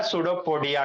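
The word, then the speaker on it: pseudopodia: सूडो P silent होता है। पी एस यू डी ओ पोोडिया सूडो हो गया पोोडिया जोड़ दो। क्या हो गया? सूडो हां फॉल्स अमीबा में आगे कैसे बढ़ेगा? सूडोपोडिया के थ्रू।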